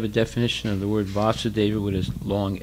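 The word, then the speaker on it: Vāsudeva: Okay, so now you have a definition of the word Vasudeva with a long A. So there's Vasudeva with a short A and Vasudeva with a long A.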